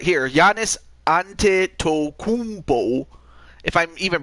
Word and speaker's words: Antetokounmpo: Antetokounmpo. That's how you pronounced.